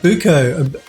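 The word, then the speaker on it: Ibucco: Is it Uko? How do I pronounce your username? The I3UCCO. How do I pronounce that? It's B. Oh, okay. Oh, Ibuko.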